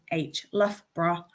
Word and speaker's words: Loughborough: You have the letters O, U, G, and H twice, pronounced in different ways. So Loughborough is pronounced L-U-F-B-R-A-H, Loughborough.